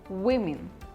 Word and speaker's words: women: sales executive second word it is not woman or women but it is women women look at the